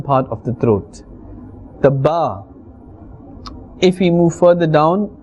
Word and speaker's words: ب: So Ba is pronounced from the wet part of both lips. Ba. Please do repeat it.